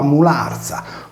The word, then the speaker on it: Molaria: Molaria, con il nesso R più I più vocale, si leggeva Mularza, come chiamata in sardo, italianizzata in Mularcia.